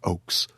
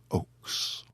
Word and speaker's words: Ochse: o c HS e it is pronounced like the trees Oaks and together with his first name he says he sounds like a stately Trailer Park Weston Oaks Weston Oaks lives in the Arizona